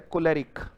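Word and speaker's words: choleric: आ जाओ बेटा, अगला वर्ड है कोलेरिक। को कैसे पढ़ोगे? ले कैसे पढ़ोगे? रिक कैसे पढ़ोगे? आप अपनी नोटबुक में कैसे लिखोगे? इसको एक साथ नहीं लिखोगे, को अलग लिखोगे, ले अलग लिखोगे, रिक अलग लिखोगे, बीच में ऐसे निशान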